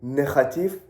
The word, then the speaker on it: negatief: Now, if I tell you negatief, you won't understand what negative means. Negative means negative in English, but it has a slightly different pronunciation because it has a G which is pronounced as G.